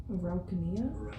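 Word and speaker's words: Araucanía: Araucania. Sorry, there's an accent on the I, and so whenever there's an accent, I put on the Spanish.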